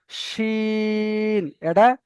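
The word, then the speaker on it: ش: তারপরে এই অক্ষরটার নাম হলো শিন, এটা সেটির মতন উচ্চারণ হবে, সিন। আর এইটা যে উপরে তিনটে নোক্তা রয়েছে, এটা মোটা করে উচ্চারণ হবে, শিন, শিন।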